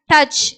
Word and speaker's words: touch: throw ஓகேவா next பாருங்க touch it touch touch இங்க ஓயுக்கு ஆன்ற உச்சரிப்பு அப்போ touch it in train ai